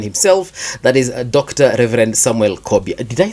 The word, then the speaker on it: Samuel Kobia: Reverend Samuel Kobia.